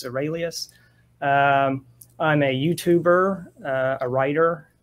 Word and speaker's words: Seralius: And for viewers, the last name is pronounced Seralius. Every now and then people think Seralius, but it's Seralius.